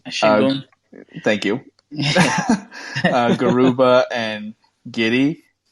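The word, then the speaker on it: Şengün: Of the three guys, I have no idea how to pronounce his name, but Sengun. Shingun.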